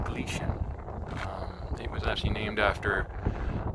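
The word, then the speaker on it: Gleichen: in 1883 um and it glycan or actually it's g-l-e-i-c-h-e-n but it's uh pronounced glitch it was actually named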